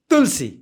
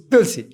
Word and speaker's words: तुलसी: आ रहा है ना तुलसी तुलसी और वो जीबा थोड़ा पीछे लेके बोलना तुलसी तुलसी तुलसी तुलसी